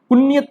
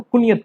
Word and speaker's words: کنیت: کنیت نہیں پڑھیں گے، کنیت نہیں پڑھیں گے، اس کو کنیت پڑھیں گے۔ اصل جو صحیح اس کا پروننسیشن ہے، صحیح تلفظ ہے وہ کیا ہے؟ کنیت۔ کنیت نہیں بولا جاتا ہے۔ بہت سے لوگوں کو